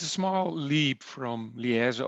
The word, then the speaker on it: Luik: It's a small leap from Liège, or as we pronounce it, Luik, to the Netherlands.